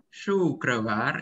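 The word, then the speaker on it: शुक्रवार: Guruwar, Kamis Guruwar, Jumat Syukravar. Syukrawar, ya, Syukrawar, ya, Syukrawar.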